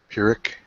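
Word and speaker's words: Pyrrhic: I'm not sure how you pronounce this. Excuse me. It's P Y R H I C. Purick.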